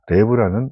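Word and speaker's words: לב: 여기서 나와 있는 이 마음이라고 하는 단어는 이 원어에 보면 레브라는 뜻입니다. 레브라는 발음이죠.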